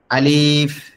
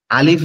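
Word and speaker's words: ألف: আচ্ছা আলিফ যে অক্ষরটা আলিফ আলিফ অক্ষরটা আমাদের ঠোটের এখান থেকে উচ্চারণ হবে। আলিফ আলিফ আমাদের উপরের দাঁতটা এই নিচের ঠোটের উপরে হালকা করে লাগবে একবারে হালকা একটু বাতাস বের হবে গালের ভিতর থেকে আলিফ আলিফ আলিফ আপনারা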